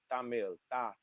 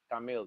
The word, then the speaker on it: Tamil: You may have heard of it, you may have not have heard of it, but Tamil, like you pronounce it with a th. Tamil.